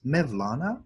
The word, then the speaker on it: Mevlana: The Persians call him Maulana, the Turks pronounce it as Mevlana, same word.